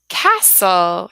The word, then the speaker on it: castle: you these two now we have the silent T in here Castle castle because if we